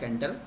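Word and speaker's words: Tkinter: एंटर library एंटर हां इसको लिखते टी के एंटर है पर टी साइलेंट टी साइलेंट है वेब एप्लीकेशनेशंस के लिए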